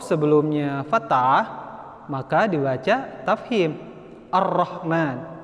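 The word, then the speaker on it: الرحمن: Ar-Rahman. Jelas dibacanya, enggak tipis, tebal.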